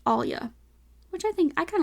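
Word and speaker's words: allyuh: Caribbean but anyways Creole they say Alia which is spelled a l l y u h Alia which I think I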